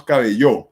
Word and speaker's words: cabello: No decimos cabello ni decimos cabello, decimos cabello. ¿Qué significa decir cabello? Significa que el acento, la fuerza de acentuación, de pronunciación, va en la penúltima sílaba, que en este caso sería B.